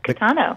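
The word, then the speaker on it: Kitano: Yes, Catano.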